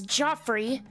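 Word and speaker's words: Geoffrey: This is apparently pronounced as Joffrey.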